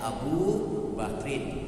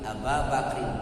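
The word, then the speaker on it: أبا بكرٍ: itu lebih ringan diucapkannya AB bakrin tidak abu bakrin tapi AB bakrin lebih enteng di bibir pengucapannya dan paling lembut karena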